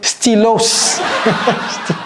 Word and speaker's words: stylos: Il n'y a pas de stylos. Stylos. S à la fin de stylo en français. on ne prononce jamais les S.